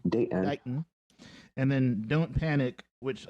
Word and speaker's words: Dayton: says Shrug, and then Dayton, kind of the way we pronounce it, Date, glottal stop, in. Dayton.